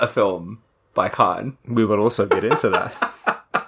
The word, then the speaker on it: Khavn: Khavn. Oh, and it's pronounced Khan.